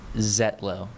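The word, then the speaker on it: Zietlow: Zetlo. Zetlo. So, as if the I is silent.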